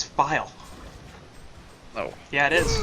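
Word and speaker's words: FiIe: It's File. No. Yeah, it is. Philly. No, it's File. I don't care. It's File. I like to say Philly. I've talked to the man himself. He says it's File.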